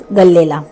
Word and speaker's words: Galle: आता आपण निघालो आहोत गल्लेला याच्या स्पेलिंग प्रमाणे याचा उच्चार गल्ले असा होतो पण इथली लोक याला गॉल असं म्हणतात अँड ऑन द वे